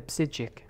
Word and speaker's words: Psijic: The psijic. The P is silent, like in and hippopotamus.